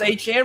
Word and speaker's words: Etienne: You know, they got Travis Etienne or now it's ETN. We can finally get to say it right.